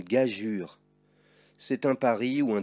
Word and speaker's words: gageure: L'orangeade, un pigeon, une gageure, que tu pourras voir aussi écrit comme cela. Mais dans les deux cas, il faut dire une gageure.